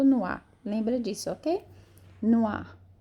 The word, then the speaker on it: noix: Não é noir, não, é noir. Não tem R. Então, a fonética de noir, de nozes, é noir. Noir, como se fosse noir. Alguém se jogou no ar. Lembra disso, ok? Noir é nozes, un poisson,